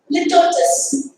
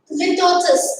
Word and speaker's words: litotes: It's litotes. Tough to pronounce. It's litotes.